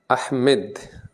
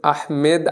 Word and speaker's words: আহমাদ: আহমেদ, আচ্ছা আচ্ছা, চট্টগ্রাম থেকে। আসলে আহমেদ আরবিতে কোনো উচ্চারণ হয় না, বুঝছো, উচ্চারণটা হয় আহমাদ।